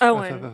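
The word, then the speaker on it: Ioan: Owen is how he says it. Owen. Okay. Owen. Yeah, because it's spelled like it would be like Ian or Ian, and I'm like, I have a hard time saying it because it's spelled, unphonetically.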